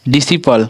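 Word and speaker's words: disciple: हमारा सी आ रहा है तो ये हमारा साइलेंट होगा। ये क्या हमारा एसेंट। फिर एसेंट के बाद डिसिपल, क्या है, डिसिपल।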